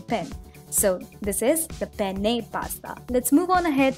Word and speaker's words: penne: is this cylindrical shaped pasta and it is pronounced as the penne pasta a lot of people mispronounce it as penne pasta but it is pronounced as penne pasta the word penne is derived from the